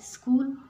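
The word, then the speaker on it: school: Hamza and Azlan are माई स्कूल friends. स्कूल में एच जो है वो साइलेंट है.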